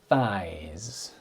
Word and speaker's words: thigh: Um, so here those are the the thighs. Difficult to say the thighs. So singular thigh, plural thighs. So make sure you pronounce the th and not thighs.